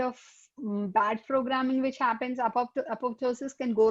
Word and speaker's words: apoptosis: The second P is silent, apoptosis.